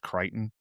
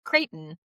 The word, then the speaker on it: Creighton: Um Peter's like Phil's mom who thinks it's pronounced Crichton.